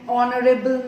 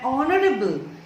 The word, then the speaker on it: honorable: Suppose an R, an honest, an honorable man. Now here H is silent.